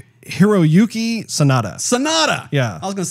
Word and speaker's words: Sanada: Hiroyuki I have to look at his name because I have trouble pronouncing it. It's Hiroyuki Sanada. Sanada. Yeah. I was going to say Sandada.